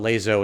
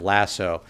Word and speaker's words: LASO: and that does include lazo or mythic now some people ask why i call it lazo instead of lasso i figured it was